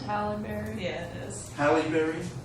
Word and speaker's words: Halle Berry: I think it's pronounced Halle Berry. Yeah, it is. Halle Berry? Yeah. Okay. Halle Berry.